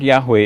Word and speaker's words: Yahweh: are mentioned why HWH and Scholars now fill it out to say that Yahweh is the best pronunciation now according to the